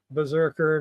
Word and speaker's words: BRZRKR: Berserker #1. BRZRKR #1. That is the proper way to pronounce it.